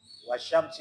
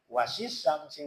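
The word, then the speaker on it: والشمس: Nah dia baca as syamsi seharusnya kan as wasyamsi ya wasyamsi wuha dibacanya wasisamsi wuha karena dia baca transliterasinya.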